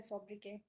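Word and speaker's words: sobriquet: सोब्रिकेट नहीं, सोब्रिके, T silent है।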